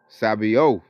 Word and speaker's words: Sabaoth: Crieth And the cries of them which have reaped have entered the ears of the Lord of Sabaoth.